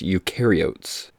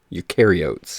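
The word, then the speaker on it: eukaryotes: Uh it's pronounced ukarotes. Ukarotes.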